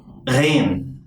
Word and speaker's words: غين: غين غين. This letter is pronounced as a velar fricative, meaning that the back of the tongue and the soft palate come close to each other without touching.